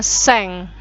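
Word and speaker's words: 千: Baik, jika nolnya ada 3, itu dalam bahasa Jepang bacanya seng.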